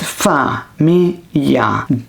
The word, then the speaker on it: famiglia: So instead of just staring at famiglia, you write fa-mi-ya.